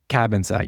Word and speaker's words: Cabansag: Cabin sag, yeah. Yeah, that's how you pronounce it. It looks Cabansag. Cabin sag, yeah. Pronounce it Cavansack.